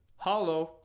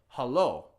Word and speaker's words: haloo: picking up a phone and beginning of conversation hallo you wouldn't say it you'd say hello okay and the only way to say hello